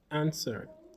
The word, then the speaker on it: answer: Answer with a silent W.